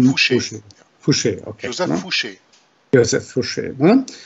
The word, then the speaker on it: Fouché: Ich glaube, so spricht man es richtig aus. Jörg, du kannst mich gern korrigieren, ne? Josef Fauché. Fauché. Fauché. U ausgesprochen im Französischen. Fauché.